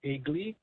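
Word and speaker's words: Aegli: Street, South Bubble called Eggly. is pronounced e g l i but it's spelled a e g l i.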